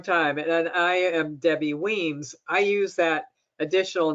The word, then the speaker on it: Wemyss: been a long time and i am debbie weems i use that additional name field here just to pronounce my name show people how to pronounce